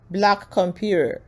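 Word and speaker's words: blackcomputeHER: co-founder of black compute hair black comput hair.or pronounced black computer is transforming Computing plus Tech education and Workforce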